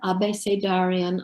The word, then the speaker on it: abecedarian: And the first one is called Stuttered Abecedarian on the Death of Poets. And I think most of you probably know about I pronounce it the Spanish way, Abecedarian ABC poem, where